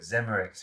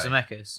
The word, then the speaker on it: Zemeckis: forrest gump and it oh it's robert zemerix he's the director and robert zemeckis yeah it's a mecca that's how you pronounce it oh my god that's like what were you saying zimmerix whatever you say wrong there was something else